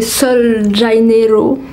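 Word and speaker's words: Sol de Janeiro: parfumée pour le corps, Brazilian Crush de chez Sol Janeiro, qui se prononce comme ceci.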